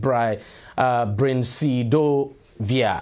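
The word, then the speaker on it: brincidofovir: experimental medication uh brain now that's a very difficult thing to pronounce but it's actually pronounced bry uh via however he still succumbed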